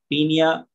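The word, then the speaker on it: Paeonia: और ये देखिए, सबसे पहली चीज मैं आपको एक्सप्लेन करने वाले हूँ, पियोनिया जेपोनिका, या इसको हम शॉर्ट फॉर्म में बोलते हैं पीनिया, ओ साइलेंट, पीनिया जेपोनिका।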